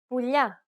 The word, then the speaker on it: πουλιά: In the third case, we have the palatization of the L sound, which results in a sound similar to the gli in the tagliatelle pasta. The tongue is flatter than the regular L because it's pronounced with the middle of the tongue touching the roof of the mouth.